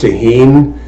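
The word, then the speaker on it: Tajín: it um I like tah Heen if you look at it it looks like it's spelled Tajin t a j i n um but it's pronounced tahen it's kind of reddish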